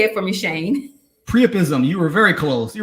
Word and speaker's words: priapism: Is it A, priapism? I did not pronounce that correctly, priapism. Go ahead and say it for me, Shane. Priapism.